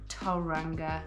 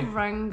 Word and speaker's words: Tauranga: to Tauranga, and we organized to another Facebook Tauranga. To pronounce it correctly. Tauranga. Everybody tells us. 10 months later and I still can't pronounce it. Tauranga.